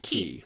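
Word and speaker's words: quay: goes there or not Mary Ellen says ke why in the u.s. CA why in the Caribbean and qu a why in Ireland are all pronounced key that is correct because it's just like the Florida Keys I mean it's like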